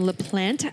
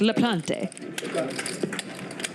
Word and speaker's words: Laplante: chat thank you KL the E is silent because it looks pretty French it looked French so I thought it was like La Plante but it's La Plante